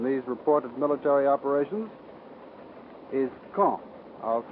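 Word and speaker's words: Caen: of gravity in these reported military operations is K I'll spell that c a en the big city at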